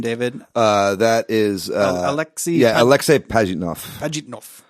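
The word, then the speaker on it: Alexey Pajitnov: Yeah, Alexei Pajitnov. Alexei Pajitnov.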